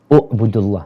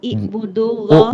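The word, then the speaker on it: اعبدوا الله: I atau u? Ubudullah. Ibudullah. Bukan i. Jadi kalau huruf tengahnya itu dhamma, maka baca awalnya pakai dhamma. Kalau huruf tengahnya itu kasroh, maka dibacanya kasroh. Nah, U'budullaha wahdahu wala tusriku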